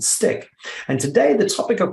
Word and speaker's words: STCK: director of design at a company called stick or stck i hope i pronounced that correctly and he's a master in all things strategic design human centric design employee experience the future of work digital transformation and business transformation so steve welcome to the show thank you thank you great to be here sean did i get it right s-t-c-k stick is that how you would pronounce it spot-on excellent well steve it's